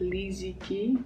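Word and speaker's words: Li Ziqi: who lives in the country I believe you pronounce it Li Zi Qi and she has almost 10 million followers and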